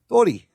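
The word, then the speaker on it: 鳥: Tori.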